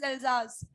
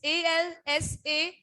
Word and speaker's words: Alsace: Spelling is different, beta, but the pronunciation is Alsace. It's Alsace, and this is Lorraine, Lorraine.